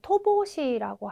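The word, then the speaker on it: 乏しい: 핍자는 부족하다, 결핍되다라는 의미를 가지는데 네, 토보시라고 하는 발음으로 읽어주시면 되겠습니다.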